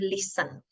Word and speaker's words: listen: the verb in infinitive listen again a silent t not the listener m